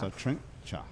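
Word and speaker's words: Satrinxa: So there's that's the pronounced Satrincha. So X is pronounced CH.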